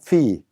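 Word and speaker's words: في: 그 다음에 F 발음에 이가 있고 그 다음에 야가 있기 때문에 피, 전치사 인에 해당합니다. 어디에 피라고 읽습니다.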